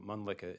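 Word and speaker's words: Mölnlycke: because it's kind of hard to spell and pronounce. No worries. So Munlicka is M O L N L Y C K E.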